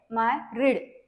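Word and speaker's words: myriad: एकदा बघून घ्या आपण मॅरीड म्हणजे काय होते एम वाय आर I eddy याच प्रोनन्सिएशन काय माय रीड एम वाय आर आय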